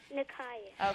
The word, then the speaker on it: Nakaya: Nakia, is that how you say it? Or Nakaya? Nakaya.